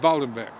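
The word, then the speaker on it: Waldhandwerk: w-a-l-d-h-a-n-d uh w-e-r-k uh spelled like walled hand work but it's but it's pronounced voldembeck and uh because he's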